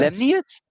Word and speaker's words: Lemnius: I always pronounce his name wrong. How do you pronounce his name? That is how you pronounce his name. Yes. Lemnius?